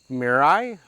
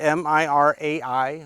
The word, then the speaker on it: Mirai: Today's camera was a Ricoh Mirai. I'm not sure how to pronounce it, but M-I-R-A-I, Mirai. Almost like a Mirage, but maybe just Mirai.